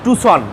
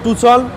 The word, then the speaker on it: Tucson: এই গাড়িটার নাম হচ্ছে টুসন আমরা বাংলাদেশের টাকসন বলি টাকসন না এটা হচ্ছে নাম উচ্চারণ হবে টুসন এটা কোরিয়ান গাড়ি কোরিয়ান